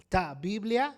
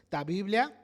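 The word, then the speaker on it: τὰ βιβλία: Entonces, el uso cristiano más temprano de ta Biblia, así le pronunciaban ellos, ta Biblia, los libros en latín,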